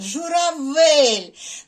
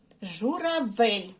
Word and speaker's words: журавель: звуки и перевірили добре наступне слово журавель де стояти буде наголос Ну звичайно журавель на склад в на звук е журавель так а тепер самі